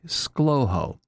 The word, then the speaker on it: ScLoHo: If you pronounce it with just two syllables, you say slowho.